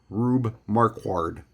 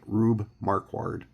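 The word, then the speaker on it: Rube Marquard: the classic names in baseball in my opinion rubbe marquard that's how I pronounce it rubbe marquard and again just a really cool picture I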